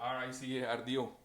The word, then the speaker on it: Ricardo: R-I-C-A-R-D-O, ¿cierto? ¿Cuál es la manera correcta de pronunciarlo?